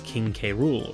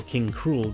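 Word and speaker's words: King K. Rool: the next newcomer is king K rool or king cruel depending on your pronunciation anyway K rool has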